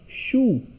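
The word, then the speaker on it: choux: CH is sure, OU is oo, X is silent, becomes shoe, cabbage.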